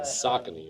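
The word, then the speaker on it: Saucony: the brand I think it's mispronounced the most it's a tricky one yeah socky like you wear a sock a KN oh my God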